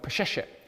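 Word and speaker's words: Peseshet: Back then, including, if you put into your internet search, a word called Pesheshet, which is spelt exactly as it sounds, you will see that there was a government position called the Chief of Female Physicians.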